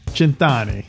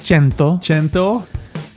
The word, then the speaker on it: cento: Centani. Oh, close. Cento. 36. 36? 36. 36. That's 36. 136. What's the first word? Cento, not centani.